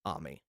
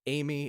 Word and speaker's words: Ammy: I'm going with the Japanese pronunciation. I'm pronouncing the letters the way a Japanese person would. Ammy is the way I'm going to say it. It's not Amy. It's not Ammy. I don't know.